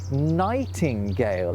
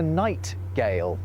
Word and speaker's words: nightingale: Well, what linguists believe is that mhm sound is being added just to make it easier to get to the g or j sound from whatever sound comes before it. It's what's called an intrusive n.